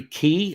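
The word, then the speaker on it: Quy: i'm concerned this what jerry key i believe is how you pronounce q-u-y um but i believe his name is jerry key gunnersaurus if he was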